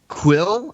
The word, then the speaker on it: Kuiil: Quill, I think is how Quill? it's pronounced. Yeah, Okay.